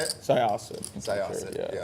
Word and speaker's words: Syosset: Syosset.